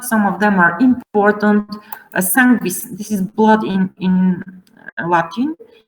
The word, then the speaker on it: sanguis: Now this NGU is pronounced as NGV. Now let me show you. Sanguis, pinguis, lingua, ungvis, ungventum.